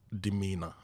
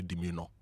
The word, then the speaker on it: demeanor: And our word for today for say it right is demeanor. D E M E A N O R. Some people try to say demeino because of the O N O R, right? But it's not demeanor.